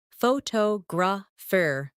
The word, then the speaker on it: photographer: In English, some words are pronounced with extra emphasis on one part. For example, phototograph, photographer, and photographic. The stress moves and that changes the sound.